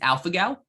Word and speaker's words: alpha-gal: How do you pronounce that again? It's alpha-gal, ALPHA-GAL syndrome, alpha-gal syndrome.